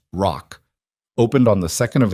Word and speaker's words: WROC: The Westbridge Resource and Opportunity Center, WROC, which Noah immediately and persistently pronounced ROC, opened on the 2nd of April, 14 months